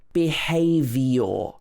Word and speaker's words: behavior: It's not behavior. There's no E here. It's y. Behavior. So the vowel sounds at the end of the word get shortened because of the stress in the middle.